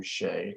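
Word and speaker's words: Hsieh: know Tony I think I believe he pronounced his last name Shay Tony Shay uh founder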